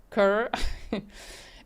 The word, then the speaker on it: CRE: insurance company called CRE, which he pronounced it as almost like Kerr, a very small company, not very much heard of.